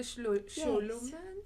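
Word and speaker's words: Scholomance: Even Naomi Novik's The Sholoman series, is that how you say it?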